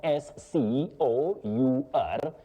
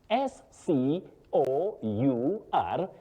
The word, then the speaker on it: scour: The first one, S C O U R, you pronounce it as scour. Oh. To scour, not to score.